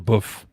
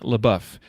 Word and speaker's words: LeBouef: does that correct prediction Brandon Brandon LaBeouf but yeah LaBeouf LaBeouf okay so I know someone else that similar but they pronounced a little poof that's that's a very subtle distinction isn't it it's it's yeah it's I'm in south Louisiana so it's probably a little more dialect than it is anything else excellent well